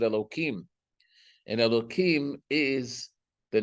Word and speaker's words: Elohim: So the name that is used is Elohim, or the way we pronounce it, Elohim.